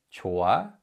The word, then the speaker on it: 좋아: In general, 히읗 is a silent 받침. So in this word, 좋아, 좋아, 히읗 is a silent 받침 because it's not read in any way.